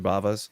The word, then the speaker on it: Bava: Bava's.